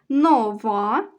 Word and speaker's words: нова: ставимо кому позначаємо наголос нова новий наголошений останній склад наступна пара стара старий